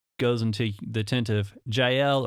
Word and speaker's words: Yael: He gets tired, goes into the tent of Jael or Yael, depending on how you pronounce it. I like Yael. It's a better name. It sounds a little better. In my mind, I don't know why, but it's a little smoother sounding, I guess.